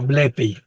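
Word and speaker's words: βλέπει: Tiene acento en la épsilon. No, Bleppey. Jurius.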